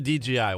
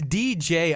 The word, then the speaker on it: DJI: It's DJI, right? But it always sounds like G. No matter what you do. Yeah, it does. It comes off that way. DJI. Did I say it right? Did I say DJI? It does. Yeah, everybody says it right. It's just like it sounds like a G.